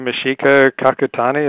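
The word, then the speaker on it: Michiko Kakutani: Is that Thank you, Mishika Kakutani. Is that how you pronounce the name?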